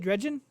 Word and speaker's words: Dredgen: I never even got Dredgen. Is that how you say it? Dredgen?